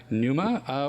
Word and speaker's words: Pneuma: for anybody who is interested in scribe or Numa where can they find you on that whole